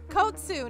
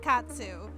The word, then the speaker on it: Kotsu: spell your name wrong kotsu not katsu thank you guys for